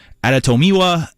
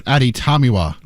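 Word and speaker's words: Adetomiwa: a couple offensive things and then we get aratomiwa adabore did I get that right out of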